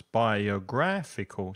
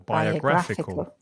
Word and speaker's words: biographical: movies uhuh biographical movies tricky word five syllables biographical stress the third syllable biographical biographical great okay so